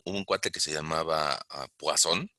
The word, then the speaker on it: Poisson: Para los que les gusta el francés, bueno, pues así se pronunciaría, relación de Poisson.